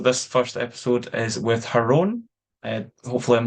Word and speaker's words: Jeroen: Jeroen. Yeah, you can pronounce it any way you like, but it is officially called Jeroen.